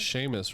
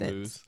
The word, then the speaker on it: Seamus: Seamoose. We should just start calling him Seamoose. Hey, I like Seamus.